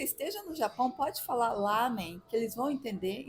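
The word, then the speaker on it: ラーメン: estava lá também mas é lamen ou Ramen então a pronúncia em Japonês é Ramen é bem puxado mesmo se tivesse ali separando o azinho pro até o tracinho né sim é então o a fica duas vezes amém Mas vamos falar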